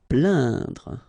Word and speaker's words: plaindre: Plaindre. Okay, when you combine this A, I, N, you will get the sound un. So really, this nasal sound in your nose.